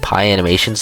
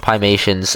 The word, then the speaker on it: Piemations: I think I said Pie Animations in the last video when I was talking about Five Nights at Freddy's briefly. But, I I watched Piemations uh Bill Cipher Orders a Pizza.